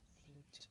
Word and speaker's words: flipped: Flipped. In the infinitive, the final sound of the verb is p, which is unvoiced. Therefore, it is case 1, and the ed is pronounced as a t.